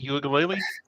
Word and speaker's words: Uiagalelei: Is that how you pronounce it, Uiagalelei? I think so.